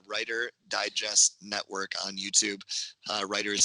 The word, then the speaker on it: Reiter: Writer is spelled Reiter.